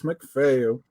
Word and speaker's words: McPhail: Students are going to start calling you Mrs. or Miss McPhail. Is that how you say it? Yeah, so I'll actually be married soon, fingers crossed, in August. So I'll have a name change, but yes, for now, Miss McPhail.